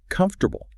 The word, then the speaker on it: comfortable: Take the word comfortable. Tech- technically, it's four syllables, but comfortable. Right. But a native speaker drops an entire syllable and just smashes the consonants together saying, "Comf- -ortable."